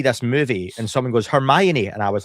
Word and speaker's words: Hermione: in your mind and I always used to pronounce um Hermione as herian because I never heard her. Yeah. I'd never heard her name said. So it was Herian, right?